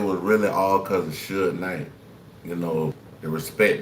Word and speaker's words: Suge: I like the way the AI voice said, hey, Suge. It's Suge, y'all. There. Pronounced Suge.